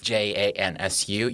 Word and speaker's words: Cansu: So the C is always pronounced like a J in Turkey.